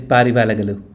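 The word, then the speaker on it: ಪಾರಿವಾಳಗಳು: Parivala vala galu la lu How do you pronounce? So, it is Parivalagalu.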